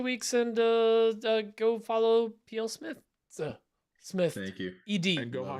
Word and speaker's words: plsmithed: and uh go follow PL Smith Smith Ed there is an e in there there's no it's not silent e or whatever just there's an e